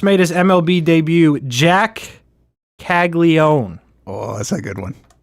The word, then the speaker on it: Caglianone: It's I'll tell you what, this thrown me off for 2 years because it's like Caglianone, right? Yeah. That's really how it's spelled, and it's pronounced Caglione.